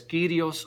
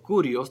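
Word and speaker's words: κύριος: se le llama señor esto es kirios or curios dependiendo en su pronunciación del griego pero muy importante an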